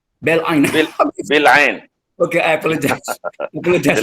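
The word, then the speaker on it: Bil'in: How do I pronounce that? Berlin, is it? Bil'ain. Bil'ain.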